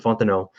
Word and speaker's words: Fontenot: So the fact that we're now seeing Patton and Fontenot, I'm a resident Canadian, so I pronounce it using the French accent properly.